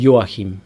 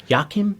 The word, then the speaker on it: Joachim: name um so people how do you pronounce it properly yahim y Yim yeah and most of the Australians they were like all right Jim yakim what the hell is it so one dude